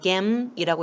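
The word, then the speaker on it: 減: 자, 이렇게 해서 덜 감자 같은 경우에 음독으로 읽게 되면은 이 반드시 타금을 넣어서 읽어줘야 돼요. 겜이라고 읽으시면 되고요.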